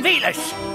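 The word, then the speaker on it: Villads: The name's Captain Velas. The D is silent.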